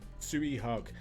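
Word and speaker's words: Tsui Hark: a massive collection of suihak is that how you say his name suey t-s-u-i h-a-r-k tsui hak he does insane action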